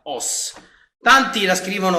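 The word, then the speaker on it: 押忍: fa sempre discutere è la parola che viene pronunciata os tanti la scrivono o ss trovare iscrittosi e niente è la pronuncia è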